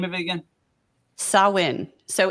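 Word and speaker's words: Samhain: gonna talk about sowin and it is the pronounce Sal win it was for the Celts in the beginning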